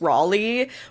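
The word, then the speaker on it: Rayleigh: The proper annunciation of my name is Raleigh. Israeli because that's a town in Essex and in England we call it.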